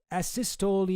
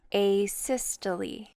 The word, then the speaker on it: asystole: And finally, worked asystole arrest.